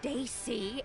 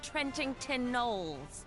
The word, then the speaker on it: Trentington Knowles: I told you before, my name's not pronounced Daisy, it's Trentington Knowles.